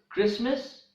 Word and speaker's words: Christmas: as a drum also in the words Christmas often mortgage the letter T is silent the next silent letter